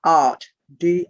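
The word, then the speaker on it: Da'at: is known as the art d a apostrophe ath art d it's up on the board they're d a apostrophe ath and what the apostrophe is is to make certain that you don't mistake the double a the double a in this language is oyin which is a very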